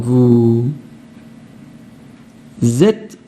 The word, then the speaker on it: vous êtes: Vous êtes en forme. Alors Z, ça s'écrit pas avec un Z au début, hein. C'est la liaison qui fait Z.